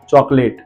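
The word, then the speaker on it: chocolate: ध्यान से पता चलेगा चॉकलेट अब ध्यान से देखिए लेटर ओ के बाद व्यंजन है एल है और एल के बाद दोबारा ए आ रहा है हमने ओ को साइलेंट रखा है चॉकलेट देन कैथलिक कैथलिक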